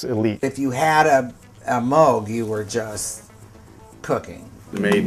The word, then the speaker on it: Moog: First off, it's pronounced Moog.